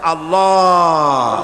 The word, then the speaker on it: আল্লাহ: পাকের নামের উচ্চারণ হচ্ছে আল্লাহ মুখটা একটু গোল হয়ে যাবে বলেন আল্লাহ আল্লাহ সুবহানাল্লাহ পৃথিবীতে বিভিন্ন জাতি আর স্রষ্টাকে তারা যাকে স্রষ্টা মনে করে বিভিন্ন নামে ডাকে।